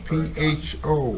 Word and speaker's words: pho: The officers at the time claimed that they thought he was see that word a lot, P-H-O, his mother was on pronounced pho.